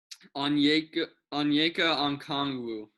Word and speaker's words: Onyeka Okongwu: How do you pronounce his name? Onyeka Okongwu. Onyeka Okongwu, the center from USC.